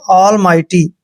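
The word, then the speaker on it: almighty: माई करना है और टी से पहले जब जी एच आता है जी एच हमेशा वहां पर साइलेंट रहता है टी को हमने ट पढ़ना है वाई को ई की मात्रा पढ़ना है ऑल माइटी ठीक है ल मिटी नहीं पढ़ना इसको ऑलमाइटी पढ़ना है ऑलमाइटी का मतलब होता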